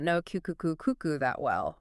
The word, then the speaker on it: Cuckoo: And let me uh get the pronunciation right from the start. It's cuckoo. C coo.